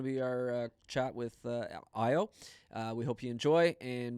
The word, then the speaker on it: Ayo: Again, my name is Ayo. It's pronounced as Ayo. Oh, damn. And so it's Ayo.